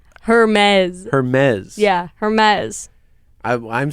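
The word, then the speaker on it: Hermès: Hermes but obviously know nothing about fashion it's pronounced Hermes Hermes Hermes yeah Hermes I I'm sorry I don't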